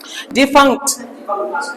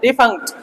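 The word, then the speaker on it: defunct: डिफंक्ट, जी ग silent, डिफंक्ट, ठीक है।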